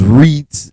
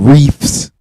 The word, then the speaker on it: Reeds: Shout out to my cousin, Roshonda's Reeds and More, not Reefs, not REEF.